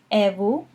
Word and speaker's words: et vous: And in French, you would ask back, et vous? Et vous? Notice that the T is silent in et, and the S is silent in vous.